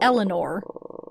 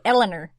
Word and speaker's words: Elanor: Elanor, not Eleanor. We can't say it that way. Elanor.